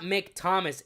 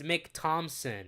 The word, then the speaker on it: Mick Thompson: his name Mick Thomas it's not Mick Thomas it's Mick Thompson you fool you fake fan